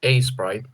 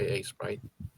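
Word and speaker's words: Aseprite: for software, I use A Sprite.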